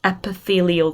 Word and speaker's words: epithelial: known as glandular tissue and we have it's pronounced epithelial tissue muscle tissue you would have hopefully remember